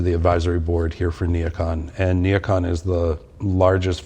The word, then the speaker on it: NeoCon: Neocon? Am I pronouncing that?